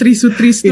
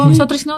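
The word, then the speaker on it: Try Sutrisno: Bapak Tri Sutrisno. Itu gampang banget kan, Tri Sutrisno. Kadang kan ada kayak Soe gitu, kadang kan kita Oh, iya, kalau iya, Gen Z iya, kan iya. bacanya Sotrisno gitu.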